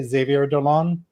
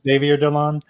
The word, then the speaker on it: Xavier Dolan: And I'm going to mispronounce his name probably, but I say Xavier Dolan. It could be Xavier Dolan.